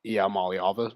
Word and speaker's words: Iamaleava: But how much Arch Manning isn't better than Nico Iamaleava.